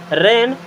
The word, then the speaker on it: rain: हो सकता है अभी तक आप इससे रैन ही पढ़ते रहे हों, बट ये रैन नहीं है। क्या है? रेन। क्या है? रेन। रेन नहीं पढ़ना है, रे में थोड़ा सा टाइम देना है। रेन।